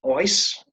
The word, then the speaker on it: oes: Then in Welsh, there's a cognate, an equivalent word, and it's pronounced oes, O-E-S.